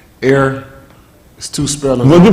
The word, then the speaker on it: Er: So Rosh, but they'll pronounce it same as Air. Air. Air. I think he'll pronounce it He'll pronounce it the same.